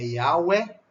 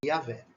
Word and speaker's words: Yahweh: Mas o nome, esses 4 palavrinhas, é para designar Yahvé ou Yahvé. Tá? É Yahweh ou Yahvé.